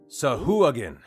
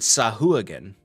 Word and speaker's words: Sahuagin: On D&D Beyond, there is like a pronunciation button that will say it for you. Sahuagin. And also, I think Matthew Mercer voices it because I just clicked on it, and it actually said Sahuagin.